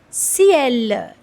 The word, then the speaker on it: ciel: So here letter C is coming with letter E. That's why it's giving a sound of S. And the pronunciation of this word is ciel, that is sky.